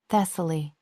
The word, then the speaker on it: Thessaly: Thessaly. She had told him once, gently, "The second syllable is soft."